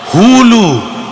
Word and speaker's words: হুলু: উলু নয়, হুলু। উচ্চারণটা হবে হু লু।